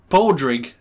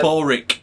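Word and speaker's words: Pádraig: it isn't it no p-a-d-r-a-i-g pronounced for paul drink oh yeah paul rick but he was saying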